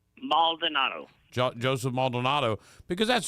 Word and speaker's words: Maldonado: me I don't want to say it wrong Maldonado Jo Joseph Maldonado because that's who he really